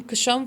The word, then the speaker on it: Ksham: इसके अलावा एक चैंटिंग है, ओम ह्रीम कशम फट स्वाहा, KSHAM। ओम ह्रीम कशम फट स्वाहा। ये चैंटिंग करने पे, कोई लोग शम भी कहते हैं, के साइलेंट रखते हैं, ये चैंटिंग करने से